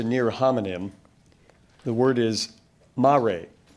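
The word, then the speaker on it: mare: perhaps the best known Mar on the moon sorry could you repeat the word Mar are there any alternate pronunciations Mari could you repeat the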